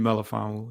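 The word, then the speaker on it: Melifonwu: You said Melifon, pronounce his name? Iffy Melifon.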